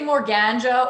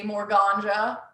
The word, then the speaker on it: Morganja: Yeah, people either say Morganja or Morganja, but I guess I say Morganja.